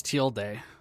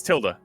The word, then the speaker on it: tilde: it's teal day what i think it's teal day it's how you pronounce it instead of till tilled like tilde might be the english one but i'm pretty sure it's supposed to be teal day i'm it's tilled come on now please please please where's dictionary i'm 99 sure that you don't pronounce it that way it's tilda oh tilda okay so technically